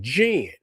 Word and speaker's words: Djinn: You can spell it JIN, and it's the same pronunciation as GEN, Jinn.